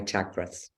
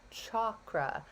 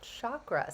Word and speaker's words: chakra: getting it wrong, is chakra, not chakra. So I have been saying it wrong for my entire life. So the correct pronunciation again is chakra. So CHAW.